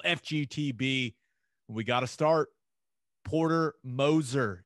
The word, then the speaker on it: Porter Moser: The pronunciation guide. So Moser. So Porter Moser hired as Oklahoma basketball's new coach.